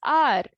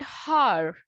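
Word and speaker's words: hour: But look at the pronunciation. It is R. Okay, it is not har. Okay, it is R and R.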